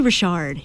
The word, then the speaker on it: Richard: jul Richard yeah okay it's actually Rashard you know for French people but it's pronounced Richard in the US okay but your family